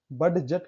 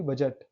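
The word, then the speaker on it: budget: बजट, बड जट कहाँ पढ़, only बजट।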